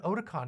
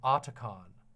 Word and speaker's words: Otacon: say Aon and when I said Odon because I kept thinking otaku everybody got mad at me and made fun of me for it so I don't know what's the right one Solid Snake pronounces it otacon so I'm guessing that's correct as someone who knows